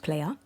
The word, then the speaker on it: PLYR: So PLYR is actually pronounced player and SLYR is actually pronounced Slayer.